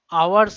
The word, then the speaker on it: hour's: মনে রাখবে যে আওয়ার্স এই কথাটার সাথে সব সময়, এই কথাটার আগে অ্যাকচুয়ালি সবসময় অ্যান বসে, কারণ এইচ এর উচ্চারণ হয় না, এইচ এর উচ্চারণ সাইলেন্ট থাকে, ও আসে, আর ও যেহেতু ভাওয়েল তাই ভাওয়েলের আগে কখনো এ বসে না, সবসময় অ্যান বসবে।